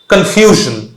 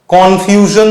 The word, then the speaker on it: confusion: এখন আমি কনফিউশনেতে কোথায় স্ট্রেস দেবো, সাউন্ডটা এক্স্যাক্টলি এরকম শুনতে লাগা উচিত, কনফিউশন। তো আমি FU বা F এর ওপরে আমি স্ট্রেস দিচ্ছি, আমি কিন্তু কনফিউশন বলছি না। কনফিউশন যদি আমি বলি উচ্চারণটা কিরকম অন্যরকম শোনাচ্ছে, দেখো উচ্চারণটা এক্স্যাক্টলি হওয়া উচিত কনফিউশন।